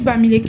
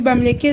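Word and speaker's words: Bamiléké: Moi je suis bamilek hein chérie. Je suis bamileké donc je prononce pas Bamilek parce que je déteste les bamqué.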